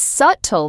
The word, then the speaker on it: subtle: Subtle is pronounced s u t l The b is completely silent. Completely silent. The whole room went quiet for 2 seconds and my manager gently whispered, "It's subtle, Maya."